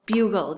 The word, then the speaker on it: bugle: This is another open syllable, and it has gull. So b-u, bew, gull, bugle. Do you know what a bugle is?